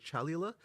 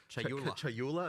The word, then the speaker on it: Chayula: So the acolyte of, and I always get this name wrong. The acolyte of is it Chalula? Chayula.